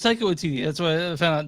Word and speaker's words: Taika Waititi: So it's Taika Waititi.